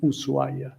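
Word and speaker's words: Ushuaia: city in the world usua it has an H there but we don't pronounce it we just say usua and if you have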